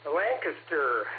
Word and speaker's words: Lancaster: Lancaster is it's pronounced.